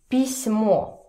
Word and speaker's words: письмо: And also in the middle of the word, for example, письмо, letter, письмо. So here you see the soft sign. It means that this letter, S, becomes soft.